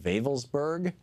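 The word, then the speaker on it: Wewelsburg: there's this town called velburg which is spelled with a W it's pronounced with a v in German that is was the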